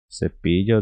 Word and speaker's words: cepillo: Aqui, vamos supor que esse LL ele é referente ao LH do português. Porém, a nossa pronúncia seria cepillo.